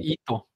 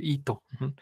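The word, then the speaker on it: ひと: Cómo se pronuncia esto la i aquí se va a ensordecer porque está entre dos hordas la H y la t Entonces se va a pronunciar de manera muy débil y la i hace que esta H se pronuncie muy parecido a nuestra jota Entonces como y la sílaba alta Esto entonces vamos a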